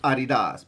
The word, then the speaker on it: adidas: do really like adidas and uh well that's pronounced adidas but you know i'm not well of course